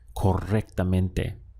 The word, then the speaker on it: correctamente: If you can roll your R here, you'll get a more authentic pronunciation, just like a native speaker, correctamente.